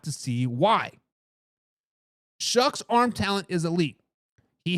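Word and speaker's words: Shough: Shuck. It's spelled S-C or S-H-O-U-G-H. Let me spell it for you there. But it's pronounced Shuck. Like S-H-U-K. Shuck.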